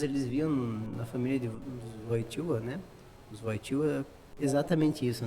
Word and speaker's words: Wojtyła: II, ele, e a família deles, né, os Wojtyła, é a pronúncia, Wojtyła.